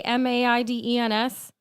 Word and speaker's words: Maidens: When I say Maidens, I get stopped all the time for me to repeat it like 3 times. But it's spelled like it's not the word that difficult. and, Like the word maiden.